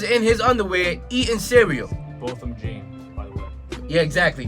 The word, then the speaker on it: Botham Jean: Botham Jean, by the way. Yeah, exactly. Bill, how you pronounce his name again? Botham Jean, right.